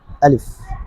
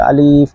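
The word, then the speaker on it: ألف: করে আমরা উচ্চারণ করি আলিফ আমার সাথে সাথে বলেন আলিফ আলিফ কোন টান হবে না অনেকে আলিফ বলে এটা আসলে ভুল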